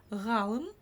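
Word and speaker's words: ғалым: В общем, ударение ставится на букву А, на предшествующую ей.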